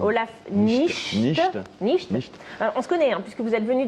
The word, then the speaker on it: Nichte: Nicht, pardon, juste, ah oui. j'aimerais bien juste qu'on prononce bien mon... Olaf Nicht. Nicht.